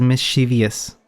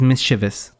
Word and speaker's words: mischievous: This word my whole life I was I pronounced it as mischievous is mischievous. Okay, don't make the same mistake I did and get beat up by it by the literature nerds.